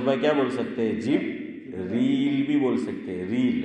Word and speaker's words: جبریل: لیکن عام طور پر ہم کیا بولتے ہیں؟ جبرائیل. اور قرآن کیا کہہ رہا ہے؟ جبریل.